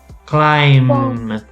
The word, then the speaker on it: climb: okay also many times the letter b is silent especially when you have this mb at the end so you do not pronounce the b so for example we're going to say bomb climb come run yeah when